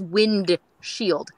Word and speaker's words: windshield: says wind shield no they say windshield there's no D in that word oh except for the band but yeah matter where in the country it's not an accent thing nobody pronounces the D God that sounds weird